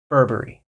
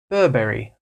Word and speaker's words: Burberry: America we would say Burberry cuz you know we love our hard RS in America in England they might pronounce they'll be a little bit softer with these RS and they'll say Burberry Burberry Burberry Burberry you